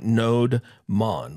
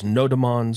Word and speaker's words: nodemon: called nodon and actually there isn't any uh official way to pronounce it it looks like node Monon like node monitor but some people pronounce it as noemon some people pronounce it as no demon I mean there's different ways that we can pronounce it you can choose how you want to pronounce it I call it nodon and this is a